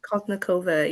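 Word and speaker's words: Kaltounková: I always say her full last name wrong, but Colty of the New York Sirens was the first overall pick. Koltnikova? Kaltnikova, yeah.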